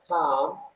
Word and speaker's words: calm: old পুরাতন, aggressive আগ্রাসী, calm Shanto, this L is silent so we don't need to use or we can't pronounce this L, optimistic আশাবাদী, pessimistic হতাশাবাদী,